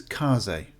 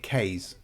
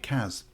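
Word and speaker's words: Kaze: So, apparently you pronounce this Kaz. I've been calling it K's. I know people have been calling it Cass.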